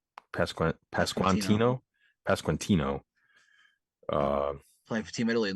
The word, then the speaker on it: Pasquantino: Is it Pasquantino? Pasquantino.